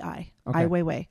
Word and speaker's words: Ai Weiwei: name a i w e i w e ai weiwei okay um he was he's probably our age